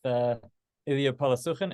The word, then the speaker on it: Illia Polosukhin: We're excited to have our chat today with Illia Polosukhin. Is that pronounced correctly, Illia?